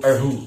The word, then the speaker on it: erhu: Nah, erhu ini atau pelafalannya yang sebenarnya itu erhu ya, erhu, tapi karena ya ilat-ilat Jawa jadi apa adanya ya.